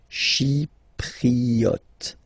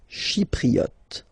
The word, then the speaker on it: Chypriote: Chi, remember this Y is pronounced like I, okay? Chypriote. Chypriote.